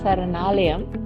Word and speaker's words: Saranalayam: So, ladies and gentlemen, we've had with us today on the show NGO called Saranalayam.